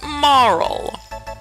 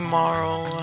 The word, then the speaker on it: Marle: us oh thank you and your name is Marl or Marley whichever way you want to pronounce it I pronounce it Marl okay now